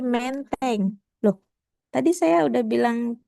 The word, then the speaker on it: Menteng: Karena dia berasumsi bahwa oh ada bunyi kalau di sini berarti bunyi itu dibacanya e. Kemudian dia nanya lagi ke polisi, Pak, menteng di mana? Katanya gitu. Terus kata Pak polisnya, bukan menteng, Bu, tapi menteng.